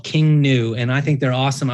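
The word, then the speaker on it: King Gnu: They're called King New, and it's King New is spelled GNU. I think they're pretty new.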